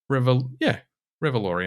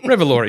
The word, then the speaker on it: Revolori: Revolori, I'm pronouncing that correctly.